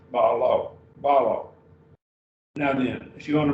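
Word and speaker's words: βάλλω: Balo. So we have actually two syllables. Now, remember the rule, we would break it between the two lambdas, balo.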